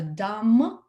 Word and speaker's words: dumb: Необычного в том, как необычного, есть такое правило, что буквосочетание MB, B не читается, B is silent. Поэтому, если у вас слово заканчивается на MB, B просто не произносите, да, получается dumb, come, гребешок, да, расческа, boom и другие там слова.